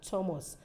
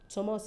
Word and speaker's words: Thomas: certain th words that we sound as like Thomas Thomas is spelled t-h-o-m-a-s but at the point of pronunciation that th is not silent later it becomes a t sound it's not so much rather it is Thomas but in this case of t-h-i-n it is